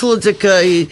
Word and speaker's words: Hludzik: Just remember, Hludzik is easy, but you have to put an H in front of it. And the H is silent for who knows why they put it there.